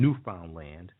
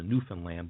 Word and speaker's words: Newfoundland: colonies in Greenland and Newfoundland Newland we pronounce a Newan land but if you look at the way it's spelled it actually spells new found land okay new found land